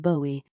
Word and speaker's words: Bowie: According to the notes, his voice, his portrayal of Bowie, pronounced like the knife.